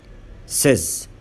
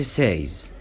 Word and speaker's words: says: احنا بنقول said، ما ينفعش نقول said. says، ما قولش says.